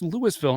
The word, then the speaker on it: Louisville: It's spelled Louisville, but it's actually pronounced Louisville, and it's a small town in St.